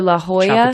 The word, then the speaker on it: La Jolla: took me forever yeah or La Hoya to us and it spelled the Jawa isn't legit Lihua is La Jolla Jolla yeah yeah anyway